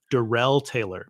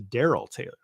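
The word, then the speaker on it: Darrell Taylor: getting that pronunciation right I was saying derell Taylor but it's a Daryl Taylor right like I mean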